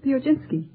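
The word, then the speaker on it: Piechocinki: with you uh uh how do you pronounce your name pinski would you mind spelling it p i e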